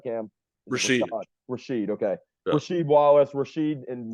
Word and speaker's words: Rasheed: ejected player in NBA history number one being Rashad Wallace Rashad wall did I pronounce his name right cam Rashid Rasheed okay Rasheed Wallace Rasheed and Rasheed did not